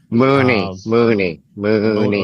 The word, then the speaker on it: Money: Mooney. Is Money is how you spell it. But, I know, but it's Mooney.